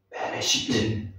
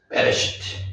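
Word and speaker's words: בְּרֵאשִׁית: 베레시트 베시트 베레시트 베레시트 베레시트 태초에 태초에 재밌다고 지난번에 말씀드렸죠?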